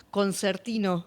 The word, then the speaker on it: concertino: Sos concertino. Muy bien. Sí, sí. Sería exactamente la pronunciación con conertino porque es en en italiano, no la he visto.